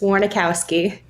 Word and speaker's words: Warnokowski: kind of confusing but how it looks is how it's said so it's just warnikowski and you are nx2